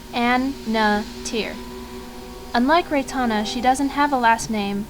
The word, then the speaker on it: Annatier: already is Rana backwards It's pronounced an NA tier unlike Rana she doesn't